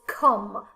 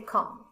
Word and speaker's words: come: com no it is come i say come okay so uh this one we can say that it does not follow the rule of pronunciation the last one i